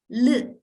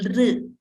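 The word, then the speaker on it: ऌ: can see the spotlight it is called Li so sometimes there is a tendency to pronounce it as real it is not right it is not real it is there is another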